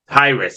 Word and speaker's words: Hiraes: from the past yes how do you pronounce this name hrus okay so for those